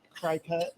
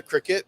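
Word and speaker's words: Cricut: Doesn't she have like the fabric cricket or whatever you? The cricket. Cricket. Yeah. It's pronounced like a little bug, but it's not spelled like a little bug.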